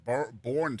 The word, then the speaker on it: Boerne: Yeah, I think they pronounce that Boerne, Texas. It is Boerne, Texas. That's right. Golly. It looks like Boerne, Texas, though.